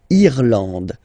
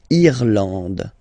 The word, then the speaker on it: Irlande: Remember, this is E, and it should be pronounced like E. Irlande. Irlande. Okay, A-N, en, D, and final E, not pronounced.